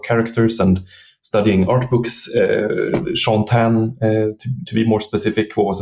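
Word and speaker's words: Shaun Tan: So I should spell it. It's SHAUN. And then TAN. Sean Tan.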